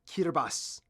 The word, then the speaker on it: Kiribati: cuter boss it's pronounced kirbas for someone then why is there a t in an i this is like the Welsh and Irish all over again weird reason the ti makes an S sound God language is stupid